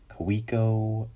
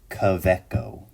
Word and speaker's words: Kaweco: Like, how do you say this brand? Is it KAWECO? Is it KAWECO? It's a German company. I've studied German a lot. So my my semi-professional, not yet fluent opinion is KAWECO. KAWECO. That's my decision on how to say it.